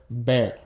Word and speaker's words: ver: So I think it's better just to remember that B and V in Spanish both make the same sound. So in this case, it's kind of like a soft B sound, okay? So ver, okay?